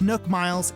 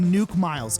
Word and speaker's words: Nook Miles: as nuke miles and no it's not pronounced nook miles it's pronounced nuke miles okay shut up i'm